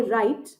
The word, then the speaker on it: write: मतलब इसकी आवाज ऐसी है एज इफ W है ही नहीं, सिर्फ RITE होता तो आप इसको राइट पढ़ते, ROTE होता तो आप इसको रोट पढ़ते। तो इन शब्दों में W साइलेंट होता है, यानी उसकी आवाज,